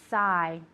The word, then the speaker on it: sigh: Okay, so to sigh. All right, the GH is silent.